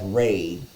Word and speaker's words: Ra: resting on his head raw pronounced as raw and sometimes as Ray is an Egyptian sun